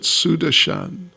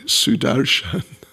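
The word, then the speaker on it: Sudarshana: the lord sudarshan disk oftentimes devotees pronounce it sudashan and if you've heard that but it's actually sudarshan means very amazing sight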